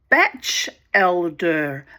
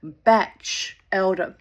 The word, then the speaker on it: Batchelder: Oh, and I also learned, you know, from Wikipedia, that it's um Chris Batchelder. Batchelder. Batch as in bachelor or a bachelor living on a beach. Batchelder.